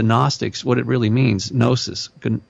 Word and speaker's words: Gnosis: Gnosis, it's spelled with a G.